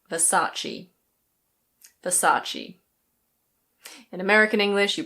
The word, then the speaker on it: Versace: In Italian this is pronounced something like Versace. Versace. But in British English we say Versace.